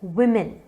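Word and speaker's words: women: अगला वर्ड है वुमेन।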